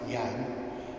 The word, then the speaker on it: Jan: Dad was born on Christmas Eve in 1941 to parents Jan, pronounced Jan, and his mother Cora.